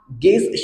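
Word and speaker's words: guess: पहिला एक्झाम्पल आहे गेस आणि हा गेस शब्द वाचन करत असताना आपल्याला या ठिकाणी य हा लेटर सायलेंट ठेवायचा आहे लक्षात घ्या कारण आपला नियम काय सांगतोय की य हा लेटर जी नंतर येत असेल तर य हा लेटर सायलेंट होतो तर त्याच्यानंतर सेकंड एक्झाम्पल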